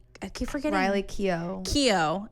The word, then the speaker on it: Keough: Keough. It's just the G. Yeah, it's like spelled weird. Yeah, it's like Keough.